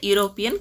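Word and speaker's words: European: ನಾವಇಲ್ಲಿ ಎ ಅಂತಾನೆ ಬಳಸ್ತೀವಿ ಯುರೋಪಿಯನ್ starts with Y sound not ವವೆಲ್ sound so ಇಟ್ is used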